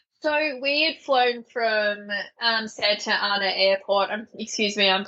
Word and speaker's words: Santa Ana: So we had flown from Santa Ana Airport. Excuse me, I'm pronouncing that incorrectly. Californians would say Santa Ana, but I say Santa Ana as an Australian.